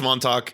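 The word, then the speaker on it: Montauk: I'm going to I'm going to approach the pronunciation of this drink very carefully m Talk No it's it's Monto it's a a really popular Brewery in New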